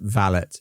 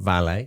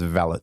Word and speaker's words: valet: and that is pronounced valet not valet it's pronounced valet with a t and the ladies Maids